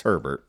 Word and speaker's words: Khalil Herbert: do you say that it's Herbert it's like sheret okay with an H all right from the